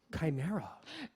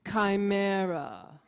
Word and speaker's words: Chimera: a beast made up of many parts right chinero it's pronounced chimera chimera chimera yes okay so these paintings uh